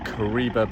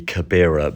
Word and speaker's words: Kabira: our first stop is the stunning Kariba Bay excuse my pronunciation that should be kabira Bay the coach dropped us